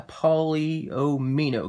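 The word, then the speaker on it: polyomino: so this is a polio mino game i sometimes i sometimes say it a different way but i'm pretty sure i pronounced it correctly a paulie oh me no game and you're going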